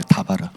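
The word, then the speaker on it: דבר: 전치사인데 그 뒤에 드바르라고 라고 발음나니까 원래는 다바르예요. 다바르.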